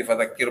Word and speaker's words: فذكر: Perhatikan di sini roknya tipis. Jadi kalau dalam bacaan Al-Quran, kalau ada rok yang seperti ini, rok sukun sebelumnya kasroh atau roknya sendiri berharokat kasroh, maka kita membacanya itu tipis. Fadzakir. Jadi jangan fadzakir.